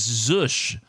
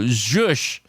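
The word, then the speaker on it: zhuzh: Uh, which by the way is Zush. Z H U Z H. So, we might have two in a row. Uh, for the first time ever. So, Zush, I think is the right pronunciation.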